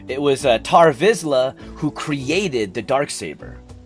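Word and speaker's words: Tarre Vizsla: It was Tar Vizla who created the dark saber.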